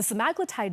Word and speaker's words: semaglutide: Okay, and by the way, it's not semaglutide, it's Semaglutide, just like tirzepatide. We've been saying it wrong this whole time.